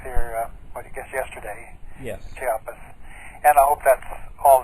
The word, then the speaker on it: Chiapas: And I understand Chapata. Wait, I didn't pronounce that correctly. Chapatas. Is it Chapatas? Chiapas.